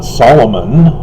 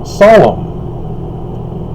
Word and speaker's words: Solomon: to king and so you don't pronounce the n so it's not solomon it's solemn king solemn so set